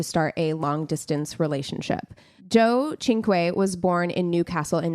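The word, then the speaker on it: Cinque: Anu Singh and Joe chinu had to write that out phonetically because it doesn't look like it's pronounced that way it is so Anu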